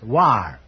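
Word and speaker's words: Loire: the correct answer is l o i r e pronounce War they tell me so that means the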